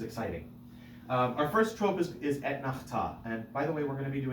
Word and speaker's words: Etnachta: Etnachta. This is important because it's a tricky word, and I often say if it's if it's a tongue twister for you, break it down into its syllables. Etnachta.